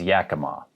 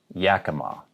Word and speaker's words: Yakima: the pacific northwest is yakima yakima so the emphasis is on the first syllable there yakima here are a